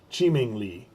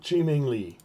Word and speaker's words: Qiming Li: Ian says, not sure, but I think the Q is pronounced Chi. Qiming Li.